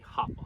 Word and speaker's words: hapa: The proper pronunciation is supposed to be Hapa.